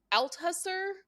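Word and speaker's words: Althusser: name and I don't believe it but Lewis Al huser cool anyways he built I have read this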